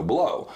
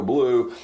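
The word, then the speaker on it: Bleau: And he would say Joe, and he would spell it B-L-E-A-U. Love it. But it would be Joe Blow. So weeks would go by, they would start getting mail addressed to Mr. Joe Blue, and it was an inside joke ever since,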